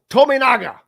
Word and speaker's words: Tominaga: I think every time we talk about him, we change the way we pronounce his name. Tomato. Tominaga.